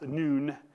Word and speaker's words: Nun: the son of and in Hebrew it's pronounced noon but in English an American it's pronounced none Joshua the son of